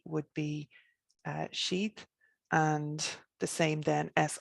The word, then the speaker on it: Sidhe: but the approximation that we have for the pronunciation would be s i thought that d would be uh sheath and the same then as i father t